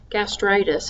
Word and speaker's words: gastritis: book to page four you'll see the example gastritis and you see that TR is in capital letters and so that's where the emphasis is when you pronounce the term the other thing that